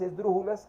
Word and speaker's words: esdrújula: Porque, por ejemplo, la palabra esdrújula precisamente es esdrújula. Lleva el acento de la tercera sílaba de derecha a izquierda y va a tener tilde.